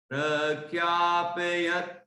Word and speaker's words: प्रख्यापयत्: मुक्ता फल प्रकर जाल विवृद्ध शोभम, प्रख्यापयत् त्रिजगतः परमेश्वरत्वम्, प्रख्यापयत्, यहां तक बोलेंगे, यत् ऊपर दांत के वहां जीभ लग जाएगी, वहीं आधा ता हो गया। प्रख्यापयत् त्रिजगतः परमेश्वरत्वम्, इस तरह ये उच्चारण होगा।